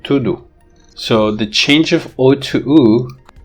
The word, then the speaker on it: tudo: similar to this because words like tudo in pronunciation they become tudu so the change of